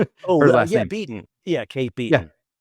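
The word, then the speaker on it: Kate Beaton: I realized I pronounced that wrong. I'm sorry. Kate beaten.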